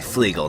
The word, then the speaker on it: Flegal: name of the Airship his name is actually flegal not pigle I don't know why